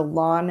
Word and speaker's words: Lan: So, lawn as in Mulan without the moo.